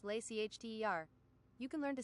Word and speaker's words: Leicester: It's just Worcester actually, like Leicester is just lay CHTER.